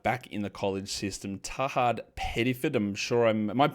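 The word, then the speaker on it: Tahaad Pettiford: on another guard back in the college system, Tahad Pedifford. I'm sure I'm Am I mispronouncing that? I hope I'm getting that correct. Uh, yeah, like Tahad Pedford.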